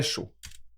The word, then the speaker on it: chaud: See, we don't pronounce that D there. The AUD is O.